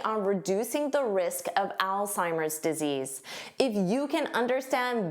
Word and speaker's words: Alzheimer's: So, notice this beginning is pronounced like the name Al. Al. Now, this is pronounced as an S. sigh. And this H is not hurt. Alzheimer's. Alzheimer's.